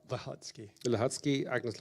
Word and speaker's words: Łącki: co-edited with um I don't know how to pronounce Agnes's last name. The Łącki. Łącki, Agnes Łącki, thank you.